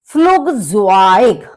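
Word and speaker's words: Flugzeug: फ्लुगज़वाइग, फ्लुगज़वाइग। अब आप देखेंगे फ्लुग, क्योंकि यू का प्रोनाउंसिएशन ऊ होता है तो फ्लुग, और ई यू का होता है वाई, तो फ्लुगज़वाइग मतलब एयरप्लेन, हवाई जहाज।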